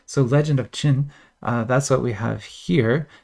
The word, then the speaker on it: Q: When you see the letter Q, like this, Qin, Q is pronounced like ch in China in Mandarin, so it's like Qin